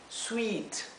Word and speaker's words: sweet: que es Suite sí Sweet Recuerden que la doble e se pronuncia Y esto es Suite es como una y un poco más larga Suite aquí la doble